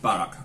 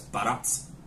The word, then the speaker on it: barack: So, the reason it's called, fun fact, it looks like Barack. I'm probably going to pronounce this wrong as well. It's Baratz. Yeah. Which is, very simply Hungarian for peach.